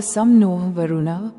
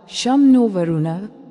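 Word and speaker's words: शं नो वरुणः: नौसेना के प्रतीक में आदर्श वाक्य सम नोह वरुण उच्चारण शम नो वरुण है जिसका अर्थ है हे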